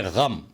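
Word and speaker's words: ग़म: इसको आमतौर से गम बोला जाता है, गम ना बोले, इसको बोले गम।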